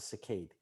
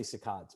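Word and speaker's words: saccade: sakad but it's really i think it's really pronounced a cicade it's a cicade so i say cicadas but but uh it's really a rapid eye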